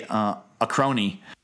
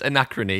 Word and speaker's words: Anachrony: just came out, Anachrony, did I say it right? Yeah, yeah. That sounds right to me. I'm a redneck again, so I want to say a crony. It's Anachrony, yes, it's right.